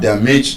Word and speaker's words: damage: Ah, I'm so sorry I have damaged your car. Doesn't make sense. But it's a verb, a bisyllabic verb, but it's an exception to that rule. It is stressed on the first syllable.